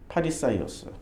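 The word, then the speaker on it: Φαρισαῖος: 그래서 이 이게 헬라어로 쓰여진 바리새의 발음은 파리사이오스예요. 파리사이오스.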